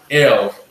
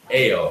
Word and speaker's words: El: But so even with the pronunciation, it's not L, it's Ale. Like ginger ale.